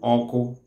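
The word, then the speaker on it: ọkụ: The fire itself is called oko in Igbo land or Igbo language.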